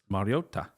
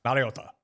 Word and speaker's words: Mariota: You don't add it on the son, but you do say it very Japanese. Mariota, Mariota.